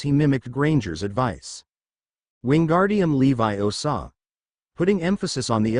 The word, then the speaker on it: Leviosa: We weren't even starting this charm until today and you pronounced it wrong. It's<unk> Levi Osaw, not Leo Saw.